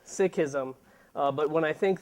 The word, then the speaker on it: Sikhism: think somebody introduced uh somebody said sism I say sism you know tomato tomato the real pronunciation of it is Sikhism uh but when I